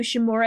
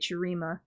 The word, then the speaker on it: Shurima: I want to do Shimura, I think it's called, the desert place. Shurima. Yeah, that's how you say it, Shurima.